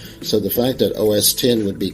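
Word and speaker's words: OS X: It's actually said OS10 because of the fact that it is the 10th operating system developed by the firm. X is just a Roman numeral that means 10, which could be part of the confusion.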